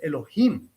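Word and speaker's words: יהוה: There are also names which are, let's say, the name of Bina, which is written Yod Hei Vav Hei, but is pronounced Elohim and has the punctuation of Elohim, because it is that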